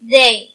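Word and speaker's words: they: ذي ذي هالطي أش تي اش تنطق كما لو عندنا الدال المعجمه تي اش تنطق كما لو عندنا الدال المعجمه الدال التي فوقها نقطه اذا تنطق ذي ذي يعني هم طبعا هذي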